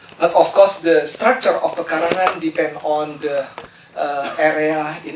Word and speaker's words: pekarangan: this afternoon is my opportunity to introduce you pekarangan eh perhs some of you very to pronounce pekarangan not pekarangan pekarangan So this is